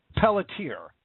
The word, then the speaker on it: Pelletier: I don't mean any offense by it, but I think it's now Pelletier is how you actually pronounce it.